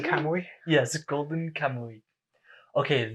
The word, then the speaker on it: Kamuy: fourth season of golden Camry or um Howard that's pronounced golden camoy yes golden camo week